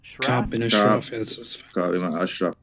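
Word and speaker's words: Ka'b ibn al-Ashraf: Cameron Hall says the killing of, let me know if I mispronounce, Ka'b bin al-Shraf. Ka'b bin Ashraf. Thank you.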